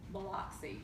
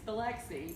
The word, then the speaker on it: Biloxi: from the Midwest and he insists on pronouncing a certain Mississippi town Block C because and so we have this argue no it's Biloxi because it has nothing to do it it's just Biloxi the kabocha Lexi it's